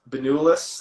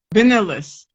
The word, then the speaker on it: Benulis: make sure you check out um is it been you list am I saying that right uh doctor right so don't worry about it but it is pronounced banulus like don't try to vanillas yeah you know it's fun I I was